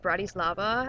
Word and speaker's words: Bratislava: It's actually called Bratislava, I think is how it's pronounced.